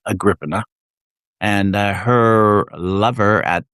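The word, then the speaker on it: Agrippina: Agriina, I think that's how you say it. I used to say Agraina, but I know that's wrong. Agriana.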